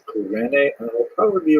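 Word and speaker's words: Cyrene: looked it up and I heard it pronounced as sirene in English uh in Greek it would have been something like Kur so I'm probably gonna say Kur and I'll probably be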